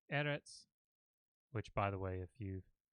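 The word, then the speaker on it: אֶרֶץ: how it's actually pronounced it's not Moretz because that's how it looks in English its edits and you will notice that when people write it they will often put a little accent mark over the initial syllable the first syllable there because that that's different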